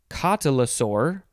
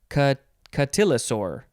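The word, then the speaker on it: cotylosaur: next word it is you can pronounce this a couple of ways catalasaur or catchatillosor catalysor or catillosaur and it is spelled c-o-t-y-l-o-s-a-u-r yeah a dinosaur this is a noun from 1895.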